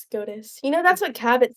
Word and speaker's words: SCOTUS: No, I am not getting Scottish because I don't want that job. That job sucks. Scottish? And it's full of idiots. it's pronounced SCOTUS.